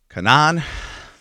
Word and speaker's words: Kenan: Kenan, Rifat, did I pronounce it right?